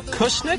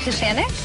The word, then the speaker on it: Kushanik: Lieutenant Tim Kushnick? Is that his name? Lieutenant Tim Kushanik. Kushanik? I mispronounced it.